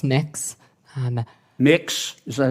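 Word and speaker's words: Mx: Cameron tell me what you're you're proposing it's pronounced next um mix is that how you how would you like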